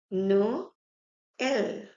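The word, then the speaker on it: Noël: So I'll read it as no L, no L, which means Christmas.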